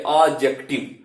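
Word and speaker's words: adjective: एडजेक्टिव में आप देखिए ए और जे के बीच में जब डी आता है तो डी को हम लोग नहीं पढ़ते हैं, वो साइलेंट हो जाता है।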